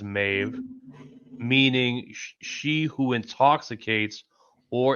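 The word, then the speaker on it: Medb: Primary meaning mave derives from the old Irish meb db pronounced roughly as mave meaning she who intoxicates or intoxicating one.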